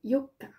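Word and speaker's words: 四日: Le 4, c'est Yoka. Dans le 4, il y a un O et 2 K. Dans le 8, il y a 2 O et 1 K.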